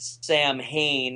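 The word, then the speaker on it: Samhain: today as uh well we would pronounce it Sam Hayne in English in in in Celtic I guess it's something more like so win so s s sin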